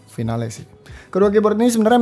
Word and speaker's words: Finale: New Edition dan juga Rexus Legionnaire MX 5.2 Finale atau Final, harusnya dibacanya Finale sih.